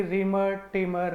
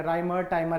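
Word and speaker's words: Reimer-Tiemann: तो यह थी आपकी रिमर टिमर रिएक्शन या राइमर टाइमर रिएक्शन जो भी आप इसको प्रोनाउंस करें वही है।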